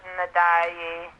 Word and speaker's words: Ndiaye: Pat Ndiaye, I don't know how to pronounce his name. It's Ndiaye.